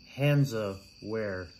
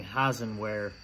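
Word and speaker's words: Hansaware: it and actually misspelling the name it's actually hands of where and how that's spelled is h-a-n-s wait yeah h-a-n-s-a-w-a-r-e dot com and i've been putting hassan where um by mistake and i will actually have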